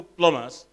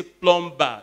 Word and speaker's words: plumber: very nicely and of course she's a no-go plumbers Oh buddy without work you know I had